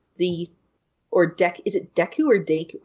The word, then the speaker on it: Deku: or deck is a Deku or date I always pronounce it with an A but it's probably Deku I've always said thank you